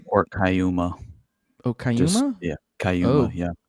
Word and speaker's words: Kaituma: Yeah, Cayuma, yeah. Oh, didn't know it's a weird thing to do with a T, but okay.